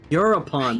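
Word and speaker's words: Eurypon: Euripon, that's how you pronounce it.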